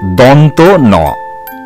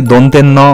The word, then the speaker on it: দন্ত ন: বর্ণটির সঠিক উচ্চারণ মূর্ধন্য ন এছাড়া অন্য কোন উচ্চারণ কিন্তু তোমরা করবে না এবারে আমরা দেখব আরেকটি বর্ণ সেটি হচ্ছে দন্ত ন এই বর্ণটিও ভুলভাবে দন্তের ন বা অনেক কিছু বলা হয়ে থাকে সেদিকে তোমরা